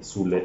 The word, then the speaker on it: Süle: Süle, ah, Bayern. So David Raum and Thilo Keller. Yes. That's how it's pronounced in Germany.